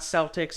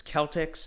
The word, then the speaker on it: Celtics: were sold to the Celtx owner Walter brown and before you question me I'm a history guy it's not Celtics it's Celtx I will say Celtx